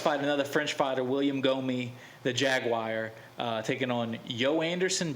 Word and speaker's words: Gomis: Gomez, however you say his name, Gomis. I think the S is silent.